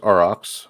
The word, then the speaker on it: Aurox: like and use metamask but um is it aurox or how do you actually pronounce it is pronounced RX um and I'm gonna post a link here